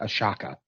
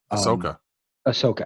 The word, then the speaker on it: Ahsoka: other exciting things now i'm pronouncing this wrong but it looks to me like a shakka but ahsoka yeah i caught that